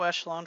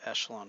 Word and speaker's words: echelon: it's actually pronounced escalon with a chef sound instead of a cha Peschel on form a matrix is said to be in row echelon form if there are